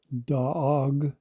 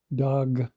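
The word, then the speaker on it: דאג: Notice that this word is spelled Dalet Aleph Gimel as opposed to Dalet Gimel or Dalet Gimel Hay. And it's pronounced as Daag as opposed to Dag or Daga.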